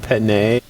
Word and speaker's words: Penei: I think it's pronounced Penay.